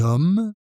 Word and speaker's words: hommes: Et le H muet, avec un H muet en début de mot, on doit faire la liaison, comme dans les hommes, et on contracte les articles, l'homme.